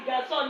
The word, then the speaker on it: garçon: Now the garçon, now you have this sign under, okay, and it's always pronounced as garçon.